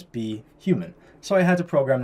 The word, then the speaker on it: BHuman: words with custom pronunciations so for example be human normally You' pronounce it if you just read it phonetically boomman right but we want to pronounce it as be human so I had to